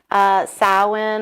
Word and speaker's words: Samhain: getting ready for Halloween sowhen or Samhain however you want to pronounce it the traditional Wiccan Sabbats